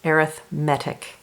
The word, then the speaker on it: arithmetic: spelled the same way as arithmetic but it's pronounced arithmetic alright so in an arithmetic sequence they follow